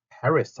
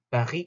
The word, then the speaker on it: Paris: 요렇게 쓰고 영어로는 Paris 하고 읽겠지만 독일어나 불어로는 얘를 파리 하고 있으면 파리, 파리 끝에 S는 소리가 안 나거든요. 프랑스에서는.